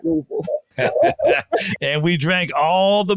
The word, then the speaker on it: Louisville: If you're from Louisville, you got to say it like that, Louisville.